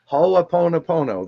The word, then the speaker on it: Ho'oponopono: And the reason why, just like, and I can never pronounce it right, Ho'oponopono, did I say it right that time? Ho'oponopono. Ho'oponopono, there we go.